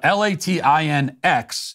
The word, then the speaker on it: Latinx: you could justify latex but l-a-t-i-n-x is latinx that's how you pronounce that um and finally Harry